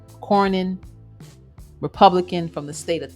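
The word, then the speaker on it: Cornyn: is Senator K and I'm probably saying his name wrong c o r n y n Corin republican from the state of Texas so in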